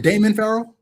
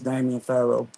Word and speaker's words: Damian Pharaoh: So my friend, is it Damon Pharaoh? Yeah, it's Damian Pharaoh.